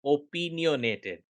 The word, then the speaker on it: opinionated: ओपिनियोनेटेड ये स्क्वा से स्टार्ट होता है, पिन में हाईएस्ट एक्सेंट है, फिर वाई स्क्वा है, फिर से फिर